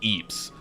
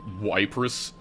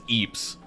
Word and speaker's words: Ypres: me so long to realize that that was pronounced Eeps. Like, I was pronouncing it the whole time, like for years since I listened to them. I thought it was like wis, like Cypress, like Wrus, but no, it's Eeps.